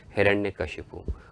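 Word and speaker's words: हिरण्यकश्यप: असुर सम्राट हिरण्य कश्यप जिसका सही उच्चारण सही प्रोनाउंस है हिरण्य कश्यप और उसकी बहन होली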